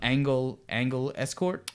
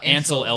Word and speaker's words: Ansel Elgort: Angle Escort. Oh, Ansel Elgort.